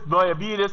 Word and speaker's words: diabetes: mentioned diabetes it is not it is not pronounced Soul it is diabetes mellitus you are something so I advise you